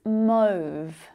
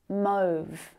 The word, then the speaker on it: mauve: This is mauve, mauve. So mauve rhymes with stove if you want to practice.